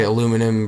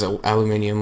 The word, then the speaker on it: aluminium: it's it we dropped American Canadians say aluminum British says aluminium let's not argue about